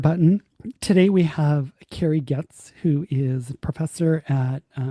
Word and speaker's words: Goetz: Cari Goetz. Whatever Cari wants, Cari gets. She made that joke. Yeah, it's a good reminder of how to pronounce her last name, Yes, it which is a I always good.